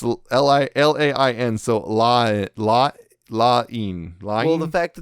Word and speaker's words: Lain: And we're going to be talking about Serial Experiments Lane. Finally going into Lane. Lane. I don't know. It's Lain.